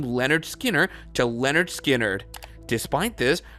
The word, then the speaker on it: Lynyrd Skynyrd: Leon Wilson they released their first album called pronounced Leonard Skinner with their most famous songs these include Tuesdays